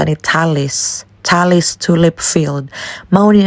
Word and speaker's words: Tulleys: papa sayang lagi pero sa lahala ang ilahang pag-pronounce ni Talis Talis Tulip field ma ni ang pinaka-number one